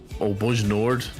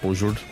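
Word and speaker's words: Bojnord: Oscar India Mike November, which is Bujnord, not Bujord, Bujnord.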